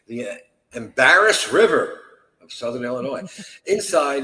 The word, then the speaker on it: Illinois: A man named Russell Burroughs claimed he had stumbled upon a hidden cave near the Embarrass River of Southern Illinois. Inside, it's got to be pronounced differently.